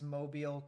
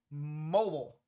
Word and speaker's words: Mobile: No one pronounces Mobile correctly the first time. Oh, I know. Everyone thinks because gas, mobile. No. I'm pretty sure it's Mobile.